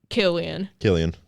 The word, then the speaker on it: Cillian: Killian.